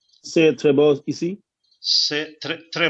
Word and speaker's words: c'est: C'est très beau ici, and T should be silent. T should be silent. Like S-A-Y. How you will pronounce the word in English? S-A-Y. Say.